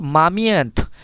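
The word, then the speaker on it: момент: আচ্ছা, পরের যেটা ওয়ার্ড সেটা হলো মামিয়ান্থ মানে মুহূর্ত। ইংরেজিতে যেটাকে বলে মোমেন্ট। মোমেন্ট মানে কি মুহূর্ত, কিন্তু রাশিয়ান ভাষায় এটাকে বলে মামিয়ান্থ। মামিয়ান্থ মানে মুহূর্ত। উচ্চারণটা কিন্তু প্রায় কাছাকাছি, জাস্ট হালকা চেঞ্জ।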